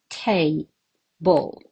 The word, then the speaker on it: table: Table. Yes, there are 2 syllables. And the stress mark, where do you put it? Right again. Table on the first syllable.